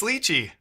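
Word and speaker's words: lychee: made them up team leachi okay fine it's leachy I've always said ly like literally always and I've been eating lyi for a decade uh Miami is an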